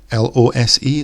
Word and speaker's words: lose: In terms of pronunciation, the first one, lose, has a Z sound for the S, whereas in loose, the S is more of a S sound.